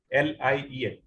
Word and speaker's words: lien: Well, at that point of time, the tailor can exercise a lien, L-I-E-N. Some people pronounce it as a lien or lien. Both are correct.